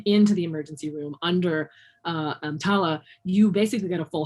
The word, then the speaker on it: EMTALA: Am EMTALA, that's how they pronounce it, EMTALA.